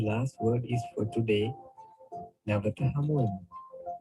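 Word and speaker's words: නැවත හමුවෙමු: Navata Hamuam. Navata Hamuam.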